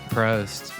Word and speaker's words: Prost: And you know what rhymes with toast? Prost.